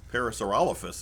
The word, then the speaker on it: Parasaurolophus: like it it parasaurolophus is how they say it you know what